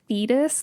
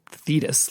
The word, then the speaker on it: Thetis: i was like yeah i'm pretty sure it is fetus like not fetis like that sounds weird you know both both are